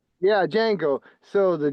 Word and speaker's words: Django: G um the one where the D is silent. Jango. Yeah, Django.